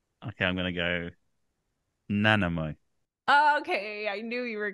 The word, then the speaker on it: Nanaimo: It's Nanaimo. So you were close with the stress, but for some reason we pronounce it as I, nai, nai. And then the beginning is like unstressed. So it's like a Nanaimo.